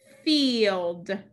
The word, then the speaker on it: field: we cross it out field field field let's look at the next word we have digraph i e the i is silent the e says its name any other coding in